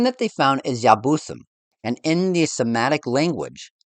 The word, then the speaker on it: Jebusites: The name that they found is Yabusim, and in the Semitic language, the Y becomes a J in the Germanic languages like English, thus making it pronounced Jabusim, or very well Jebusites in modern language.